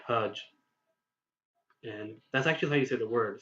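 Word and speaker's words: hajj: the word hudge correctly you would have to pronounce it as the English word fudge except with an H rather than an F so instead of saying fudge you would say hudge and that's actually the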